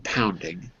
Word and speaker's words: pounding: Okay, but where's the stress? Which one has the stress? Which is the strong syllable? The first or the second? I think it's the first one, The pounding. first. Pounding. First syllable. Excellent.